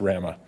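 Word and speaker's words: WRAMA: RAMA, as you may know, W-R-A-M-A, pronounced RAMA, is a not-for-profit association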